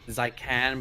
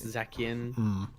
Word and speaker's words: Zacian: Say like Zycan, but that's not the right way. It's Zacian. I think Zycan would have been a much better name, but Zacian, Zacian.